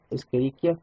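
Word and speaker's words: Escherichia: es es kikia coli noten que la la ch no se pronuncia como Che en español sino como K se pronuncia esqueria Coli y lo que vemos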